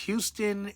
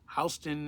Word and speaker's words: Houston: I mean, it's pronounced Houston in Texas, but Houston in Manhattan.